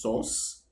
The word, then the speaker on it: src: folders one folder called src which is pronounced source which is the folder